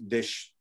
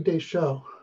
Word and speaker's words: Deschau: We had a request from Beverly Dish. I don't know how to say it, Deschau. I know her, yeah, it's Beverly Deschau.